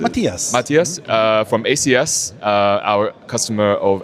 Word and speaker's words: Mathias: Is it Mathias? Do I pronounce it? Matthias.